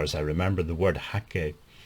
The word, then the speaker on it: hake: to call this a hick brush but actually it should be pronounced as a hakee brush it's actually the name hakee isn't an english name it's a japanese name now it's a long